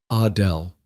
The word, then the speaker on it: Adele: She pronounced it the French way. Adele.